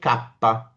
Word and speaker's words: kappa: So that is called kappa. The letter K is pronounced as kappa.